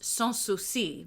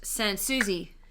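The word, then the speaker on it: Sans Souci: great palace in Berlin in French it's pronounced suusi which means without suspicion in a in Sydney it's pronounced Sansui Sans Suzy I love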